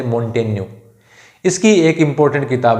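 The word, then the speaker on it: Montaigne: Michel दे मोंटेन्यू, हालांकि आपको मोंटेग्ने जैसा दिख रहा है, लेकिन उच्चारण होगा मिशेल दे मोंटेन्यू।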